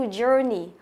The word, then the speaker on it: journey: Journey, nhớ từ này mình không đọc là jour nhá, mà là jour. Journey, tức là âm ơ dài á, jour, journey. Chọn âm của nó rơi âm thứ nhất này.